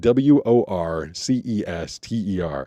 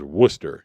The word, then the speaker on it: Worcester: pronounced super weird like w o r c e s t e r and it definitely sounds like or it looks like Worcester but that town is Wooster if you're from there.